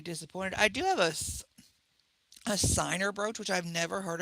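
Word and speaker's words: Ciner: them and be disappointed i do have a signer brooch which i've never heard of it's called it's spelled c-i-n-e-r have you ever heard of that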